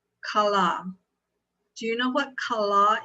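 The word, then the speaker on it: כלה: the root word of tahel it is it's pronounced kala do you know what kala is in Hebrew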